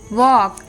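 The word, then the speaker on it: walk: ए ओ और यू मतलब जब भी ए ओ और यू के बाद आता है एल तब वो साइलेंट होता है for example W ए एल के वॉक टी ए एल के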